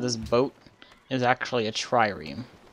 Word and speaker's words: trireme: Oh, and I figured this out from watching Mythbusters, that the name of this boat is actually a trireme. I didn't see the second R, it's a trireme.